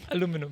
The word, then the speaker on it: aluminum: Because the US pronunciation is aluminum. Aluminum. The UK pronunciation or the Indian pronunciation is aluminium.